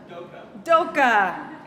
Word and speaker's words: Doka: Doka, thank you, because I haven't met you yet.